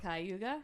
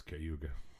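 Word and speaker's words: Cayuga: We went out to Kyuga. Kaya. Yeah. You said it wrong before. Kauga. That's what you Ohio. I don't know. No, it's Kyuga. Uh went out there to the uh Speedway.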